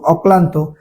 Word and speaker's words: অক্লান্ত: তারপরে দেখেন অক্লান্ত, অক্লান্ত শব্দের উচ্চারণের ক্ষেত্রে কি হবে, অ, ক, কয়লয়ে আকার, দন্তান্ন, তয় উকারে তো, অক্লান্ত।